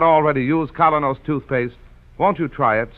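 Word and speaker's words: Kolynos: folks like you and me have found that kenos the high polishing toothpaste does that job thoroughly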